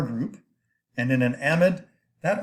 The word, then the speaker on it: amide: Now you look at this word and you think, well, there's a silent E at the end of that should be amide because that makes the I long. Not if you're an organic chemist. We have unusual ways of pronouncing certain words, and this is one of them.